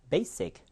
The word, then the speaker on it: basic: 여러분 아마 요 강세 표시는 잘 모르실 텐데요. 앞에를 세게 한다는 뜻이에요. basic. 해볼까요? basic. 이렇게 발음합니다.